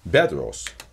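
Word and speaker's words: Պետրոս: many consequences for example the christian name peter or petros is pronounced in western armenian bedros right there uh the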